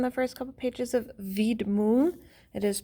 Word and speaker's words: Widmung: little bit on the first couple pages of vid moon it is pronounced vid monk more like okay at the end at the